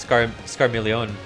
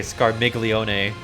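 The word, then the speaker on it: Scarmiglione: walls another time it looks like it'd be pronounced scar milione but they say scar miglione so okay I should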